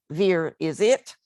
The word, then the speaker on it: virescit: In virescit, we have another pun on Vere's name. If you pronounce it, Vere is it.